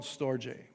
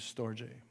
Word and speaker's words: storge: so here's these other two one is called storjay or some might say storge but it mostly pronounces it is storje and this is a family love you see